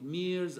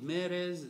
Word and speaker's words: Meres: it, but it's Francis, you probably call it Mears, I call it Meres, M-E-R-E-S. How do you pronounce it? Mears, Francis Mears.